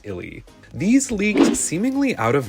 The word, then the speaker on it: ILY: of I love you based on previous promos using the same brand name it is indeed pronounced Illy these leaked seemingly out